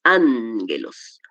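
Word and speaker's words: ἄγγελος: Mire que cuando tenemos dos gamas, la primera se pronuncia como una n. Ángelos.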